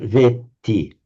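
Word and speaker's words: वेत्ति: So you don't say veti, but veti. Veti, a long A followed by a double T.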